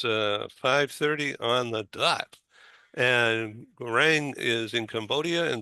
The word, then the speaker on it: Gaurang: Philip Berry and Stephen Howard, and in Cambodia is GAURANG. Am I pronouncing your name correctly? Please correct me if Yeah, I'm wrong. yeah, you are pronouncing correctly.